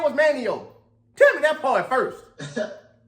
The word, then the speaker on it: Manteo: It ain't pronounced Manteo. I know I'm not the person to be talking about nobody's name, to be honest with you. I didn't know it was Manio until I just got the phone with Wallace, and Wallace was like, it's Manio, so don't say Manteo.